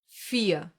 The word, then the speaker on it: vier: We talked about the German R before, and listen to it here. Vier. You don't hear the R? Listen again. Vier. Nothing? Exactly. This is one example for the silent R, the one that gets pronounced like a reduced A and is found in words ending in ER.